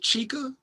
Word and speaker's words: Chika: And it's I think her name is pronounced Chica.